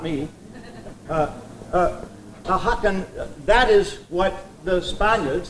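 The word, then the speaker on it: Ajacan: How would you pronounce A J A C A N? There you are. This is her, not me. Ahakan, that is what the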